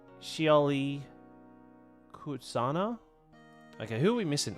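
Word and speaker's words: Shioli Kutsuna: Okay, well, how do I pronounce her name? It's Shioli Kutsana.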